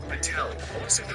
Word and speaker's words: Patel: It's not how you pronounce my last name. To everyone who doesn't know, it's Patel.